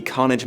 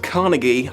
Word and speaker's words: Carnegie: Winning Adams the Carnage Medal on the Guardian... Carnage? Is that a medal they give for children's books? Okay, it's pronounced Carnegie.